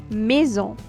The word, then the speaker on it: maison: So we have a, I, pronounced like a in bed. Example: maison.